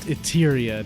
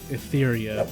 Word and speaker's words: Etheria: Yeah, that's pronounced Eteryia, not Ethereia.